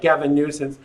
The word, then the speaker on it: Gavin Newsom: And I did pronounce it right, Gavin Newsom.